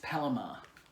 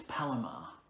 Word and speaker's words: Palomar: board so the Palomar knot is pal its Palomar it's Palomar PA L AM i-are now it's pronounced power as in P al oh and